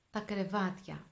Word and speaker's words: κρεβάτια: You have to pronounce it in a hard and fast way in order to make this sound.